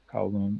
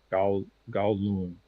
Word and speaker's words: Kowloon: Yeah, like KOW, like cow, like COW, Kowloon. Although I believe in it's Cantonese. In Cantonese, it's more like Gao Loon.